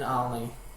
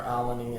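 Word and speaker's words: Albany: As a kid, I grew up in Alny, or Alany as it's properly pronounced by locals.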